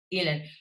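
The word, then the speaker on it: Ihlen: but that story of Leonard Cohen's affair with Marianne, how do you pronounce her surname? Elin.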